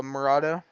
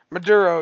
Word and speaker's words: Maduro: Did you guys see what they used um when they went to go get uh Marada? I'm saying his name wrong. President of Maduro.